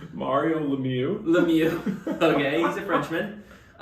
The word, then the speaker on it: Lemieux: Lemieux? Sorry. Ouch, that. I'm sorry. Let me just tell you how it's spelled. Lemieux. You try to spell that. Okay, it's Mario Lemieux.